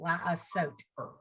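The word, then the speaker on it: לַעֲשׂוֹת: So, Letter vowel. The sin has the O and it ends with the T. So it's one syllable. La-a-sot.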